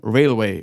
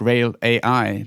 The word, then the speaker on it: RAILwAI: mufa je co-founder of Railway or perhaps I should pronounce it rail AI because that's how it's spelled in any case in